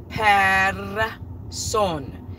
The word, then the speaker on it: Persson: And Sweden, it's like calling somebody like Smith, but they pronounce it Persson, which is the son of Per.